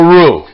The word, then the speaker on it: roux: And what we're doing here is we're making what's called a roux. And that's spelled R-O-U-X.